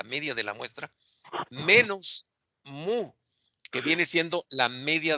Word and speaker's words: mu: Bueno, mira, es muy importante que se graben que esta letra griega, que se pronuncia mu, representa la media de una población.